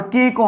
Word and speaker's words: kick: में हम लोग जानते हैं कि सी का प्रोनाउंसिएशन नहीं होता है और के को हम लोग कॉ पढ़ते हैं।